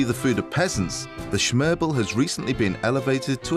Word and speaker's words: smørrebrød: First, smørrebrød.